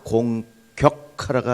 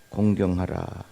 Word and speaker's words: 공경하라: 그 발음을 잘 하셔야 됩니다. 내 부모를 공격하라가 아니죠. 내 부모를 공경하라.